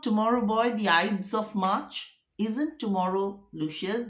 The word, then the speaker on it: Ides: enjoy your sleep is not tomorrow boy the IDS of March isn't tomorrow Lucius the IDS of